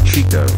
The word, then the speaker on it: Chico: His name is Chico. It rhymes with the other one.